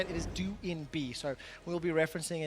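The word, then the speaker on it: Doinb: quick update we have received updated information correctly pronounced join be his nickname is how we used to say it is due in be so we will be referencing it that way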